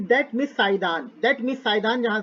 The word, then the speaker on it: Saidan: साइदान bracket में victim, ये नाम के स्पेलिंग बता दो। साई बाबा है, साई बाबा, SAI, साई दान, DAN। क्या पढ़ोगे इसको? साइदान ही पढ़ेंगे, साइदान ही पढ़ते हैं इसको।